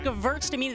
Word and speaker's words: Gewürztraminer: It's Gewürztraminer. The W is a V, right? It is.